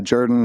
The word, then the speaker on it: Jordan: But yeah, Jordan is like an old southern pronunciation as my dad used to say.